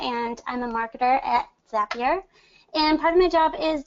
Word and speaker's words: Zapier: the bat it's pronounced zapier is in staff here makes you happier not as a peer